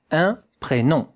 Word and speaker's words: un prénom: Look at how to pronounce it here with a nasal vowel. Nasal vowel, yeah? A bit of air has to come out of here.